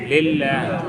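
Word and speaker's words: لله: এবার এই বর্ণ এই শব্দটার উচ্চারণ হবে লিল্লাহ। কি? লিল্লাহ। আবার সবাই বলেন লিল্লাহ। হ্যাঁ, লিল্লাহ। লিল্লাহ, নাম দিয়ে নিল্লা না, কিন্তু লিল্লাহ।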